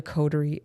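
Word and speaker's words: coterie: that can do it uh it's called a codery there's a just that's an important word maybe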